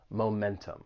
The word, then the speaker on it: momentum: where I'm from but in general you can't go wrong pronounce announcing that t momentum why are you taking